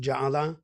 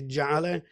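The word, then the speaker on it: ja'ale: which um I guess in other Arabic dialects might be pronounced jaala, but the say jal, which um is a communal gathering um where sing songs and discuss just the tradition.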